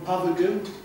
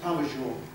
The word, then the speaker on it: Pavageau: Lots of people call him Pavagoo, but it's pronounced Pavageau.